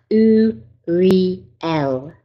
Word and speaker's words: Uriel: the right frequency, okay, needs to be pronounced as U as in two, Re as in real, and L as in elephant. So have a go at that. U-re-l.